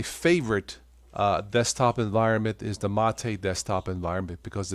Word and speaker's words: MATE: So if you are a Windows user, check Mate, spelled M-A-T-E, mate, but it's pronounced Mate, the Mate desktop.